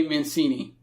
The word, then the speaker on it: Mancini: hard name to pronounce, Aaron Judge, and Trey Mancini. Is that how you pronounce his name?